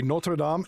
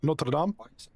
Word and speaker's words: Notre Dame: No, it's not the university. It's Notre Dame in France. It's a church, right? Notre Dame. That's how it's said. The university is Notre Dame, but in France, it's called Notre Dame.